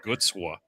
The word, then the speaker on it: Gucwa: I'm Polish, so like my last name is spelled Gucwa, and it's not pronounced like that. it's Gutswa, right? 20, I think it's like